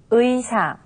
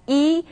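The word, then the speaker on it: 의: repeat after something new ui ui now the second case is when the character ui is pronounced as e instead of now this happens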